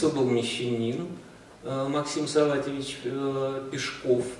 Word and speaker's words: Пешков: вмещения максим салате вич пешков правильно ударение на последнем слоге что бойки сам как